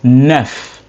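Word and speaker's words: neuf: Nine is NF.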